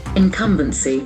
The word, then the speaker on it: incumbency: must be nouns incumbency incumbency that a sound is very prominent incompetency accent falls on the second syllable incumbency incompetency